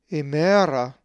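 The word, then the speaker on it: ἡμέρα: If you said imera, you are correct, for the accent is over the epsilon.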